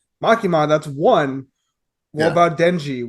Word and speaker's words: Makima: to find out about uh masaki no miyazakas makima makima thank you so this is episode eight that you haven't pronounced her name right once all right